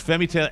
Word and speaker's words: Femi Taylor: Femi Taylor, am I pronouncing it, or is it Femi Taylor? It's Femi Taylor as Ula in Star